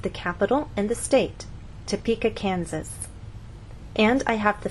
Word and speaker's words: Topeka: you can see that we stress the middle part of the word Topeka and here the